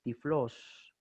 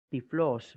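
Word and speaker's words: τυφλός: Es decir, siempre que la Y aparezca sola, tendrá el valor fonético de I. Por ejemplo, tenemos una palabra que aparece en el Nuevo Testamento que es tiflos. Tau, Y, Phi, Lambda, Omicron, Sigma, tiflos, ciego.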